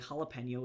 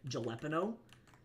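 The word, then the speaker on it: jalapeño: my stuff and like jalapeno is not even that difficult of a word to say but like the area that I grew up in people I'm not even joking will unironically or pronounce it gelo and I had to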